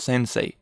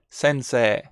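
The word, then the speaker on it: 先生: as i said before even if we have the e here it's not you don't say sensei it's not sensei it's sensei sensei notice how what i do is to enlarge this last e e so we it's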